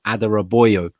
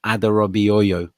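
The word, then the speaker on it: Adarabioyo: talking about tosin who i'm reliably informed is pronounced tosin adera boyo not adorabi oyo so it's adorable um just just going back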